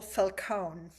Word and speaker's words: Falcone: Falcone. Is that the right way to say it? Welcome to That my is couch. perfect.